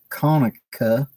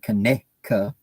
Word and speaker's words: Conecuh: is Conecuh National Forest, which some people may pronounce it Conecuh, but how it's spelled, but we call it Conecuh.